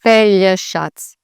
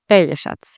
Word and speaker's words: Pelješac: So they have the tricky J, they have the sh, and the C that's a ts, not a k or anything like that. So Pelješac, Pelješac. And again, emphasis on the first part of the word, not the middle or the end.